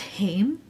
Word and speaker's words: Haim: I've also been listening to that band, I think it's pronounced Haim, right? Haim.